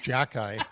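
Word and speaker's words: Xhekaj: and your buddy Arbor Jackkeye on defense. Yeah, Arbor XA which is pronounced Jackie for whatever reason.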